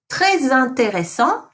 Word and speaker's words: très intéressant: Très intéressant. You link the très intéressant.